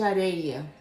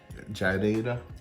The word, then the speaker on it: areia: Sand pear in Brazil is a pera de areia. Jadeira? Areia. Areia. Yes, pera de areia.